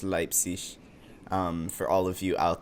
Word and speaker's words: Leipzig: By the way, it is pronounced Leipzig, for all of you out there who don't know German.